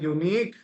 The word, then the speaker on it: unique: The pronunciation of unique starts with U. Right. So a unique, right? A unique pattern, right? So it starts with you.